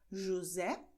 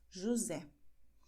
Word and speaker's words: José: Nestes casos, a letra S entre vogais, como ocorre em José, você vê que a letra S está entre duas vogais, portanto, o som é de Z, José.